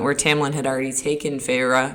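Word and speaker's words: Feyre: Tamlin had already taken Fra Fra is how you say it, right? Yeah.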